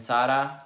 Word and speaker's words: Sara: It's Sarah, but we pronounce in Italy, we pronounce it differently, so it's Sara.